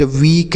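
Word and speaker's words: weak: ठीक है, लेकिन अगर ई ए के केवल रहे, उसके साथ आर न रहे, तो हम बड़ी की मात्रा का उच्चारण करते हैं, जैसे beat, वीक, meet, लीक, mean.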